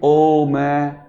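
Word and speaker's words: ओम्: अ नहीं आएगा तो इसका उच्चारण यह नहीं करेंगे ओ मैं नहीं करेंगे तो इसका उच्चारण क्या करते हैं ओ ऐसे तो ओ के साउ हमने ये तीन मात्रा जोड़ी नहीं तो इसका उच्चारण कर देते हैं ओ मैं आएगा लेकिन अ नहीं आएगा ओ ऐसे ही बोलते हैं ना ओम भूर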